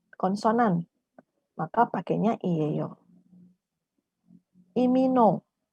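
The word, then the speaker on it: 이민호: ya kalau kita baca Tapi sebenarnya cara baca namanya yang benar adalah ini no Jadi bukan lip tapi ih Jones imino Joe seperti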